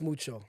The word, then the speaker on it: Muco: Muco, but in Kirundi, a language in Burundi, it's not C, it's not K, it's Ch, it's Mucho.